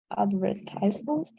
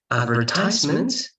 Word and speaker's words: advertisement: Advertisement, the US, advertisement, that's the UK. Okay, of course, that can be pronounced in a better way, but I'm putting emphasis on the difference. Okay, so advertising and advertisement. The stress is different and the pronunciation is different.